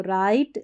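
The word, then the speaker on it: write: डब्ल्यू आर को र पढ़ते हैं। डब्ल्यू साइलेंट रहता है। तो राइट रॉन्ग।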